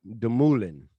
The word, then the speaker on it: Dumoulin: I told myself, this is how you say the name. You say it Dumoulin.